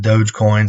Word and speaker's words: Dogecoin: back in like 2015 i thought it didn't mean doggy coin but it's everybody pronounces it dogecoin so i don't say doggy coin but um i found